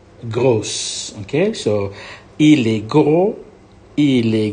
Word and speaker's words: gros: clothes go for masculine don't pronounce the S you go gross okay so le kou